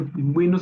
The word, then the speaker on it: pingüino: falta de ortografía porque ya sabemos que pingüino sí se pronuncia la la uno.